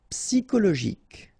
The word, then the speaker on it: psychologique: Psychologique. Okay, remember it's an exception here because you've got this C-H-O. Normally we should pronounce it sho, okay, but in that case we pronounce it ko.